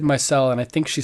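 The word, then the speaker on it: Myrcella: think my cell my cell that's I said my cell and I think she said I pronounced it right okay that's cool Delaney this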